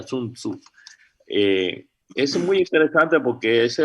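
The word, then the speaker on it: 孫子: Tzu, o Sun Tzu, pero en cantonés se pronuncia Sun Tzu.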